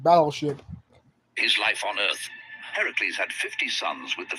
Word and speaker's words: Heracles: See, if you listen closely to the name, it sounds like the word Hera, like the Greek goddess, but no, Heracles.